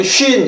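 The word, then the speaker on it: שׁ: 이거는 shin 이렇게 있습니다. shin 이렇게 있고요. 음역하실 때 다르게 이렇게 circumflex 모양을 거꾸로 된 모양으로 이렇게 써줍니다. shin 이렇게 발음합니다.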